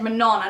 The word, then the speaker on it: Manon: called Manon gets introduced, but her name is spelt like Manon, and I spent ages pronouncing her name Manon and didn't realize it was pronounced differently until I watched an interview with the author and she said Manon, and my whole world